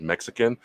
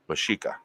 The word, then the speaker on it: Mexica: by the way, if any of you ever hear me refer to myself as Mexican, I am talking about the Aztec Indian and the Spanish.